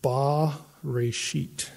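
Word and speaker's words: בְּרֵאשִׁית: And it would be pronounced Ba-Reshit.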